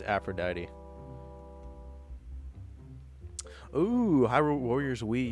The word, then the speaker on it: Aphrodite: But dude, I mispronounced Aphrodite 5 million times in that video. I kept calling I kept saying Aphrodite. It's Aphrodite.